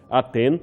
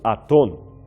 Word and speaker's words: Aten: Lembremos, o seu nome poderia ser pronunciado Aten ou Aton.